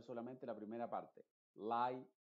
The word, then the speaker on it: lie: En la combinación IE, esa E es completamente muda y la I se está pronunciando con su sonido original que es I.